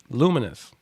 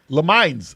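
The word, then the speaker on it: Lumines: All right, Luminous, dope ass puzzle game, super addictive. Le Mines. Nah, this Luminous. Oh man, Lumens, I said it wrong for years. Luminous.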